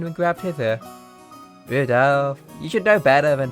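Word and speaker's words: Rudolf: Anyway, this guy, his name is pronounced Rudolph.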